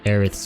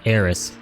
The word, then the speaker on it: Aeris: to name Aerith's character, her name is actually Aeris, not Aerith. And the reason behind that is because I believe when they were in Japan, they couldn't pronounce the th sound. So when they localized the game to English in the West, they thought that her name was supposed to be Aeris.